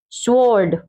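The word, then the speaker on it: sword: स्वॉर्ड, स्वॉर्ड, स्वॉर्ड, वो का साउंड नहीं देंगे, स्वॉर्ड मीन्स तलवार, ठीक है, स्वॉर्ड मीन्स तलवार।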